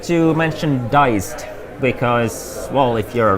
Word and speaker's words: Dized: a few weeks and it's spelled I'm just showing this so it's d ized like digitalized push together so it's diced oh that's a better